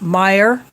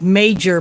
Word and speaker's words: Meijer: but they pronounce it meyer when i first saw i think it's like major but it's pronounced meyer i'm guessing that is